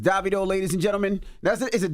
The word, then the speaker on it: Davido: It's Davido, ladies and gentlemen.